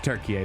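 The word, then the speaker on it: Türkiye: It's Turkiye. That's the pronunciation.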